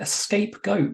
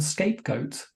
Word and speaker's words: scapegoat: a cake tin because I pronounced it escape goat rather than scapegoat surely the goat wanted